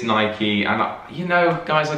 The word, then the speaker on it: Nike: nike nike yeah so i still say night you say nike and apparently it is nike and you know guys